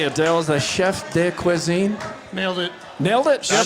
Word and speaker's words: chef de cuisine: Is the chef de cuisine?